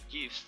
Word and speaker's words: GIF: The creators of the format pronounced the word as the GIF with a soft G as in gym. The word is now also widely pronounced with a hard G as in GIF.